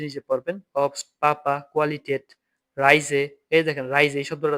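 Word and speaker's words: Reise: এই যে রাই, এর এ আই রাই, এস এ যে রাইজে, রাইজে মানে হচ্ছে ভ্রমণ। এর এ আই রাই, এস এ যে রাইজে ভ্রমণ। এই যে এস এর উচ্চারণটা কি হবে সবসময়?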